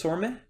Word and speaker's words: Sormeh: And did I pronounce it correctly? It's Sormeh? Yeah, it's Sorma.